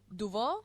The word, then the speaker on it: Dubois: Y también en Bélgica, por ejemplo, se utiliza o existe mucho el apellido Dubois, ¿se pronuncia?